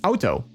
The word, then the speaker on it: auto: Like it's not auto, it's auto. Like you're trying to say ouch, you know, when you hit your toe, you're saying ouch.